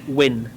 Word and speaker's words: Nguyen: That's pronounced Win.